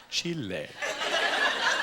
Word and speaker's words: Chile: I went to Chile which I Now Pronounce Chile that's how they say it but I was telling a friend of mine we're going to chili and he goes oh